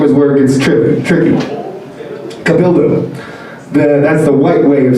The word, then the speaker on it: Cabildo: Like, think of Bob the Builder, but like Cabildo the Builder. And a lot of people get weirded out by that name. They're like, oh, what is it? And it's like Spanish. And the way it's pronounced is Cabildo. Cabildo. That's my full name.